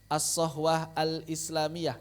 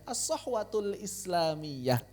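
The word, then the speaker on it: الصحوة الإسلامية: Asahwah alislamiyah. Asahwatul islamiyah. Begitu ya.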